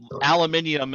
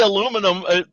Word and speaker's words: aluminium: in the know um aluminium is the proper pronunciation but you can never say aluminum i mean you have to say aluminum foil you can't it's a word you have to pre that you have to mispronounce otherwise you sound like a complete uh prick from the united states yeah you know it's